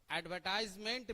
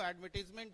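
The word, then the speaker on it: advertisement: बहुत लोग और बहुत स्टूडेंट एडवर्टीजमेंट को एडवर्टाइजमेंट भी पढ़ते हैं। एज वी आर इंडियन, सो हम लोग कभी कभी ऐसा प्रोनाउंसिएशन कर ही देते हैं। तो ये आप लोगों के लिए बहुत ज्यादा मैटर नहीं करता है, लेकिन आप कोशिश करें कि इसको एडवर्टीजमेंट ही पढ़ें।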